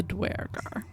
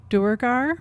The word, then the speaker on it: Duergar: going to be the Duergar. I know, there are different ways that people say that word. Chris Perkins is on record that there are two canonically correct pronunciations, Duergar and Duergar.